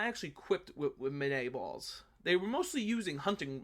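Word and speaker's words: Minié ball: said before was a mini ball or monet ball it's technically a monet ball because it's french but americans most of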